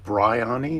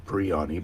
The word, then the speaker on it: Bryony: Now, it's pronounced Bryony, not Briani, Bryony.